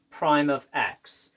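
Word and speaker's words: f′(x): and we're going to denote it this is pronounced as fime of X so normally we have an F ofx we're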